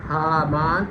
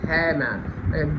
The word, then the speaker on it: Haman: instead of full name he was said as Haman or Haman, both the pronunciations.